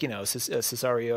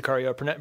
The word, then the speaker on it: Sicario: He has done, it looks like most of the other Denis Villeneuve movies, like Cesario or how you pronounce it? Sicario, Prisoners, Theory of Everything.